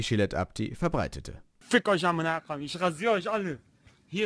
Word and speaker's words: amina koyim: Ausgesprochen heißt es Aminakuyum.